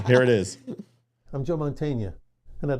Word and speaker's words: Mantegna: I think it's Joe Mantegna, is how you say his name. And he was Joe Mantegna. Mantegna. Yeah, Mantegna. Okay. Yeah, the G is silent. Mantegna.